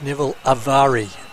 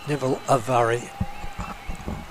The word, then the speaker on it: Neville Avari: It's Neville Avari. Neville Avari.